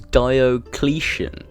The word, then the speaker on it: Diocletian: __ ] oh ok its premise Diocletian as how you pronounce it I looked it